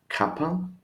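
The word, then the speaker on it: κάπα: Then we continue with kappa. Kappa is the same with K, a little bit different, the small one probably, but the sound is again the same, like kilo, kappa, no problem here.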